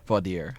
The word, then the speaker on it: voir dire: Is that how you pronounce it? Voir dire.